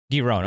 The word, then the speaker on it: Giron: And how do you pronounce his last name? Is it Giron, or how do you Giron, say it? Yeah. Giron.